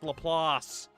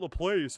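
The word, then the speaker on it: LaPlace: It's pronounced Lelass. you. Louisiana. It's not the place. It's Lelass.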